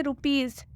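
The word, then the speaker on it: rupees: उच्चारण ज से होगा इसलिए यहां पर भी इस का उच्चारण ज से किया गया है रुपीज मतलब होता है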